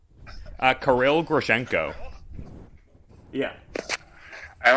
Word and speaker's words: Kirill Grishenko: that i know of um how do you pronounce his name uh karil grishenko yeah and like i i feel like being